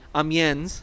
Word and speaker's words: Amiens: approaching the city and i'll pronounce it in the american way amiens okay in the north